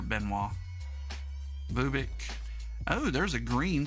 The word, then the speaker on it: Benoit: At least that's how we pronounce it here, Benoit.